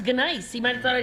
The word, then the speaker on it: gneiss: What, isn't that pronounced nice? I wanted to make sure he knew it was gneiss.